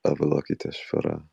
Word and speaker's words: Avalokiteshvara: I pronounce it as Avalokiteshvara. Avalokitesharva.